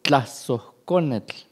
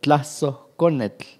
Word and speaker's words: Tlazoconetl: Y hay una asociación ahí que por influencia del catolicismo se ha traducido, que es Tlazoconetl. Después de la O es una aspiración, Tlazoconetl, que sería el ángel.